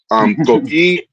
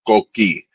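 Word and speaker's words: coquís: speak English, it's pronounced coquis. The way you can say it is ko, and the word key, kee, coquis.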